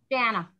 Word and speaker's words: Jana: We have Jana, do you pronounce it Jana or Jana? Jana.